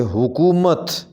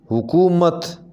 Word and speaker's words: حکومت: یوں ہوگا زمیندار، زمیندار۔ حکومت، اس کو صحیح پڑھیں گے حکومت، حکومت۔ روش، صحیح تلفظ اس